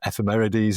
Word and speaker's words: ephemerides: And your pronunciation is correct. Ephemeris is what these things are, and ephemerides is what a lot of them are.